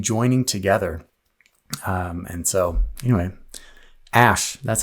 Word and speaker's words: Aesc: things coming and joining together and so anyway ash that's how you pronounce it there you go next question how